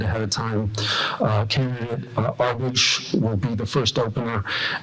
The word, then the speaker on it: Arbige: my name is arage and it does rhyme with garbage I've heard that so